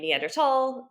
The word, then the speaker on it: Neanderthal: if you were a German speaker you would say tall um and therefore either when you're saying the colloquial name neanderthal Neanderthal either is correct but if you're spelling